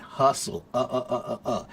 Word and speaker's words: hustle: You're struggling with the pronunciation of hassle, ha ha ha ha ha, big A, and hustle, Hustle has the schwa sound.